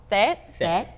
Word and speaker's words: Tết: It's actually called Tết in Vietnam. What is it called? Tết. Yeah, okay. It's T-E-T. So it's called Tết.